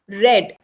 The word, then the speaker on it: read: past participle form is red right we have a difference in pronunciation but not in spelling so read and read hence we will use